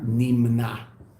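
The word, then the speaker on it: נמנע: How do you say that? Nimna? Nimna. Nun mem nun ayin.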